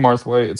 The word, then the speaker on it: Marthwaite: this layout to shows, they think it it's supposed to say Mweight and they're like, "You got the name wrong." And I was like, "No, it's it's supposed to be Martha.